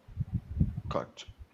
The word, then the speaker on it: cut: Cut. Or Ah, cut. good. So you corrected yourself, David. That is the pronunciation. It is cut, not could.